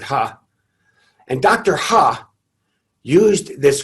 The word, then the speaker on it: He: it's pronounced dr ha it looks like he but they pronounced it ha and dr ha used